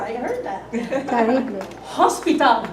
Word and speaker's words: hospital: Hospital, don't pronounce the H.